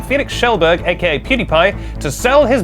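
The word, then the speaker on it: Felix Kjellberg: Fans are begging Felix Schellberg, I'm going to show off that I know how to pronounce his name, Felix Schellberg, aka PewDiePie, to sell his bathwater in the style of Belle Delphine.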